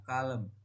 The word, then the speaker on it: calm: Contoh kata calm, pengucapannya calm. Penjelasannya A sebelum LM dibaca AA panjang.